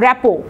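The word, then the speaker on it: rapport: পরের প্রশ্ন চলে যায় র্যাপো, এরপরে এটার কিন্তু উচ্চারণ হচ্ছে র্যাপো, ইটস এ ফ্রেঞ্চ ওয়ার্ড, এটা একটা ফ্রেঞ্চ ওয়ার্ড, এ কারণে পরের টিটা কিন্তু উজ্জ্বল থাকবে, এটা হচ্ছে প্রোনাউন্সিয়েশন হচ্ছে র্যাপো।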